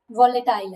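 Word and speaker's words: volatile: और जो rेम है वो तो वटाइल है, वोलेटाइल है। वटाइल भी बोल सकते हैं, वोलेटाइल भी बोल सकते हैं।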